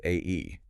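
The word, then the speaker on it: 愛: The Japanese word for love is pronounced A-E.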